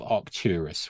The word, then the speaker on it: Arcturus: he's the potentate of Arcturus which is proper hard C find in it you